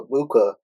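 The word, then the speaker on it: Egbuka: But I did mention Amika Ibuka. Um, and I think his uh G is silent in his last name.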